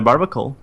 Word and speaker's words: Barbaracle: You can run a Barbacle, for example. One of them is the Barbaracle, or what's the name? Barbaracle. I think you said it right.